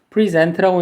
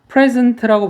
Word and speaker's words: present: 동사일 때는 강세가 뒤에 있어서 present라고 읽는데 얘가 강세가 앞에 있어서 present라고 발음되는 경우는 명사로 선물이라는 뜻으로 쓰이거나